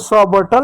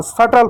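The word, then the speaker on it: subtle: बी सा लेना है इसको सबटल नहीं पढ़ते सटल पढ़ते हैं ठीक अब चलो सी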